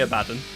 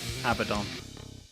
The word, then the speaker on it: Abaddon: Wait, is it pronounced Abaddon, not Abaddon? Yeah, I say Abaddon. But a lot of people say Abaddon.